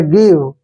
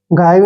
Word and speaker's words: give: देखिए FOR को फॉर, और फिर से GIVE आ गया, गिव, गाइव नहीं पढ़ेंगे, फॉर गिव ऐसे, फॉर गिव, ठीक है ना, फॉर गिव।